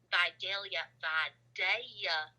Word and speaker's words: Vidalia: pretty special to me so we started in by daia Georgia as it's pronounced to the locals which is like the